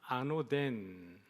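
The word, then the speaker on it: ἄνωθεν: 노란 글자에 보면은 같이 한번 따라 해볼까요? 아노덴, 아노덴이라고 되어져 있습니다.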